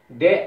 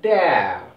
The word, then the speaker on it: there: They, see, that is there, but here T-H-E-R-E, it is pronounced as the, see, does, dull, that, we should not pronounce it this, there, that is wrong, okay friends, see here,